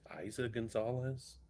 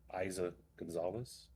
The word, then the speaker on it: Eiza González: It looks like Eliza without an L. Eiza González.